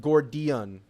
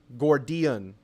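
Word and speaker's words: Gordian: right we're y'all are on a buy it's pronounced gordion gordion it's a reference to mythical knot that Alexander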